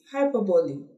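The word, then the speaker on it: hyperbole: classify that as hyperb don't forget is not Hy is hyperb that's his correct pronunciation for that hyperb and then maybe we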